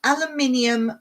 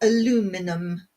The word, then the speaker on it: aluminium: Finish off by rubbing with a piece of crumpled aluminium foil, or aluminum, as you Americans say. Did that sound funny, me saying aluminium? Because that's what we say.